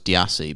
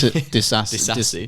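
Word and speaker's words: Disasi: Because I always thought it was Diassi, but it's got an S in it, so it's Disassi.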